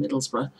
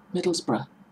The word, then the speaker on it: Middlesbrough: tend to pronounce it Middlesbrough and even spell it Middlesboro to put the ore after the B there is no or after the B there is a few